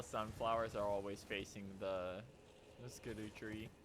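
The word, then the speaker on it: Scadutree: Cute that all the sunflowers are always facing the skidoo tree. Apparently that's supposed to be pronounced scadoo tree, but it's shadow tree. But it's funnier to say skadoo.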